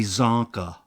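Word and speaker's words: Csonka: just see it Larry zonka from the Miami Dolphins of football sounds like a comic book sound effect zonka Larry zonka and it's spelled c-s-o-n-k-a what yes c s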